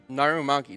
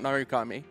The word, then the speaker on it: Narumaki: Narumaki, not Narukami. Narumaki.